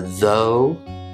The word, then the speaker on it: though: quickly review those so the first one is a long o sound and two of the most common words you'll hear that o sound in are though and do next up